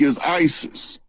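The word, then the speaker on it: Iesous: Jesus in Greek is Isis.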